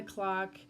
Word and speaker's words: Cloq: We work well together, and get on our Facebook, Around the Clock Event Services, and that's spelled CLOQ.